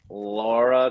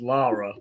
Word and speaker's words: Lara: have here is uh Laura craft uh she's British so you have to pronounce it the British way it's Lara this was this is